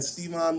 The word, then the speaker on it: Stevon: I was like, how you pronounce this? Yeah, like Stevon. Stevon.